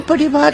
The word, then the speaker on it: Paris: पेरिस नहीं, पेरी।